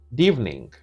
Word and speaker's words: good evening: Comme evening commence aussi par une voyelle, ils font tomber la première syllabe. D'evening. You can say good evening, you can say evening.